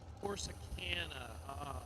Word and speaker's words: Corsicana: Is it pronounced Corsicana, Texas? Corsicana.